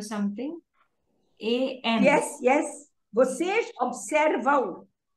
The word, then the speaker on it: observam: Vocês observam. It's pronounced, you know, you kind of say aum.